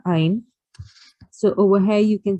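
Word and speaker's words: ع: near a smear again make sure that you pronounce the letter Ein instead of making a jerking sound um finds uh sound should come out of the middle of your throat a smear la hello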